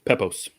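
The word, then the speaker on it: Pepose: the writer David um how did you pronounce his last name pepos pepos okay I'm sorry if I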